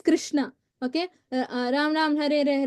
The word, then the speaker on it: Krishna: And then pronounce each name distinctly. Okay, do not chant Hare Krish, not Krish. It's Krishna.